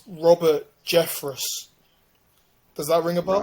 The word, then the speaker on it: Jeffress: Oh yeah, so I got his name wrong. It's Robert Jeffress. Does that ring a bell? Robert Jeffress.